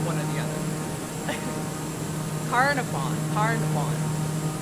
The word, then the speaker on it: Carnarvon: Carnarvon. Canafarm. This is gonna be more emphasis on the nar. Carnarvon.